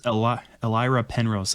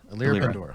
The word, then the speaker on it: Elira Pandora: And that is, that's Elira Penrose, another name I had never had to say out loud. Pandora. Elira Pandora.